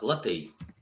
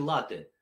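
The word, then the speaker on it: latte: Значит так, латей. Вот где здесь написано, что оно читается с двумя ударениями? Латей. Как вы произносите это слово? Starbucks, да, в любой кофейне. Вы говорите латте, правильно?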